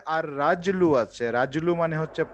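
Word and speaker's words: الرِّجْلُ: এক দুই তিন কারণ র এর উপরে তাসদিদ আছে মানে র টা ডাবল উচ্চারণ হবে হ্যাঁ হ্যাঁ হ্যাঁ হ্যাঁ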